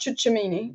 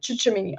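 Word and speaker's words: Tchouaméni: and touching his face is pronounced chucha mini chucha mini i can't pronounce names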